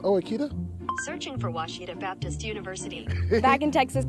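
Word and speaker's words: Ouachita: people say ohita oh a Oita is it pronounced Oita searching for wasita Baptist University back in Texas everybody pronounces it Witchita but really it's was was was how would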